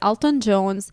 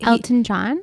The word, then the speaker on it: Elton John: was telling me that alton jones was bankrupt because of his flowers bill he elton john yeah is that how you